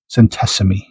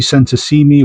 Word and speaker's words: centesimi: When it's Italian, you want to emphasize the last couple of characters. So it sounds like it should be centesimi.